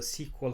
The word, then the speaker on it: SQL: query language so it's it's pronounced as a sequel too so keep in mind